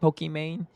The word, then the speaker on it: Pokimane: It's spelled Iman, which is like the last part Pokimane. But because it's pronounced Iman, her whole intention when she created her username was so that it would be phonetically pronounced Pokemon, essentially, just like Pokemon.